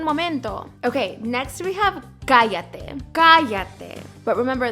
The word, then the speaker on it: cállate: Okay, next we have cállate. Cállate. But remember, the double L is pronounced like a Y.